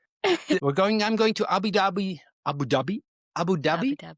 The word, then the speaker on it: Abu Dhabi: How do they pronounce it? You live there. Tell me. Abu Dhabi.